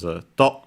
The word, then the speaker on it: 戸: Its strictly Japanese pronunciation is to, unaccented, and its fundamental meaning is door, especially in the Japanese style.